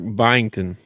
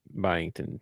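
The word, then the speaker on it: Byington: Their coach is Mark Bington. Mark what? Spell it. B Y I N G. T O N. Bington.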